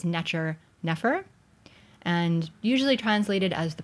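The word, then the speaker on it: nṯr nfr: So the first one, these first 2 signs, is what we would, in modern times, we pronounce this as Necher, Nefer, and usually translated as the perfect god.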